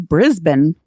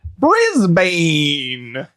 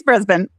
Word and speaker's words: Brisbane: you're going to need Erin how do you pronounce this one this one is Brisbane Brisbane spelled b r i s b n e you may have called it Brisbane no it's Brisbane again as long as you're typing it